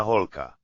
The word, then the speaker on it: holka: Dobrá holka. Dobrá, good girl. Polka. Polka rhymes with polka.